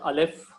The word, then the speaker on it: Aleph: So remember and note it down that Aleph is a silent letter.